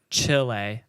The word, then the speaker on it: Chile: Did you know there is in Chile, I believe it is, there is a... It's pronounced chile, but yeah.